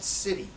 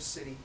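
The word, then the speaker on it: siddhi: does exist and it's called City it's spelled s i d DHI city is Magic that's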